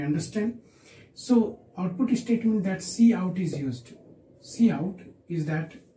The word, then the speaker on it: cout: So output statement, that cout is used. Cout is that object is used. Cout is used with this two angle bracket. What is that? This is angle bracket. We say it cout.